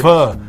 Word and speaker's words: Pho: Pho restaurants when it's hot. Vietnamese. Did I pronounce that right this time?